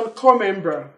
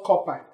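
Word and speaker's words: corps: core member, core member, you discover that P is silent here as well as S. Everybody say core member. Core member. Core member. Core member. It is wrong to call copper.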